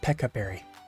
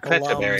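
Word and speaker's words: Pecha Berry: It's pronounced peccaberry. Wait, I Aluvi thought it was just kind of pronounced Pechaberry. glums at the Aluvi just kind of glums at the notion of the word peck because it reminds him of birds. I thought it was Pechaberry. Nope, it's peccaberry.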